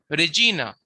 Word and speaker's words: Regina: Regina which means queen. Therefore we see since the second last syllable is long or heavy. Therefore we see that the accent is on G. Regina.